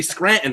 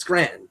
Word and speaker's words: Scranton: Yeah, it's Scranton. No, it's not. Yeah, there's no T in Scranton. When you say Scranton, it's just an unintelligible word. Yeah, when everyone knows what you're saying. Scranton's like 1.5 syllables.